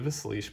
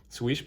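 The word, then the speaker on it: Slysz: via knife joy with their exclusive sleesh bowie swish bowie there we go with the proms proper pronunciation um yeah all right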